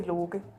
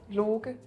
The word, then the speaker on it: Loki: How do you say it again? Can you? Low key. Low key. Low key. So it turns into a G.